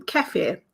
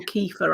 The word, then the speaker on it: kefir: Now, I know that I've had um keir in the past or kefir, I think it's it's pronounced in the states.